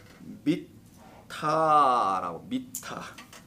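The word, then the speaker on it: מיטה: 자, 침상이라는 단어는 자, 미타라고, 미타라고 합니다. 미타. 자, 미타라고 하는데요. 미타. 요 미타를 침상이라고 합니다. 근데 요건 좀 중요해요. 뭐 다 중요하지만, 근데 요 단어 자음 똑같은 것을 발음만 다르게 하면 히브리어는 뜻이 달라진다 그랬죠. 근데 본래는 다 요 자음 자체의 뜻이 다 있습니다. 그래서 요게 지금 그대로 발음만 달리해서 미타가 아니라 마테로 읽어버리면 뭐라 그랬죠?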